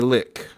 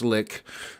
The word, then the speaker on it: lich: played world of warcraft they mispronounced it maybe i'm mispronouncing it now but i i think it's pronounced lick um but if you